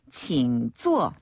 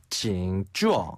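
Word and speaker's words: 请坐: 앉으세요 앉아 주세요라는 뜻이에요 주어 예 여기서 주어는 위에서 아래로 뚝 떨어진의 이고요 주어 그렇죠 칭 쭈어 칭 쭈어 칭 쭈어 칭 쭈어 이렇게 발음하시면 됩니다 어 안다가 주어 어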